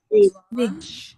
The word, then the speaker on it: zwanzig: Zwanzig. ஆமா, sorry. இந்த இஜெட் ஐஜி இருக்குல்ல, இதை வந்து எப்படி சொல்லுவோம்னா ஐஎஸ்ஹெச் மாதிரி ப்ரொனவுன்ஸ் பண்ணுவோம். Zwanzig. Zwan.